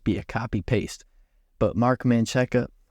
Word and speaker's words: Menchaca: But Mark Menchaca, how do you say this motherfucker's name? Mark Menchaca, let's look this shit up, bro. Mark Manchak.